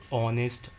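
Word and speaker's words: honest: लेकिन जब इनको हम प्रोनाउंस करते हैं तो इसमें ओ का साउंड पहले आता है।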